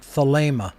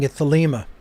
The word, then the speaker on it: Thelema: pronounced thalema or thalima it is a long a sound the ada sound in